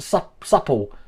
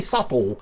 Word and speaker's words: subtle: only got to be supple subtle subtle subtle it's not tall it's got to be subtle because um if you